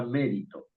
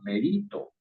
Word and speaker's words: mérito: Ah, si lleva tilde en la I, entonces usted está diciendo que la palabra se pronuncia merito.